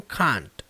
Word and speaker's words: can't: O que é interessante é que na pronúncia britânica dele, can't é pronunciado como can't. She can't, she can't.